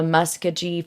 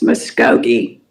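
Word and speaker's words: Muskogee: Um, KTUL, the Muskye Phoenix, and Crime Watch Daily are the resources that we pulled from. It's Muscogi.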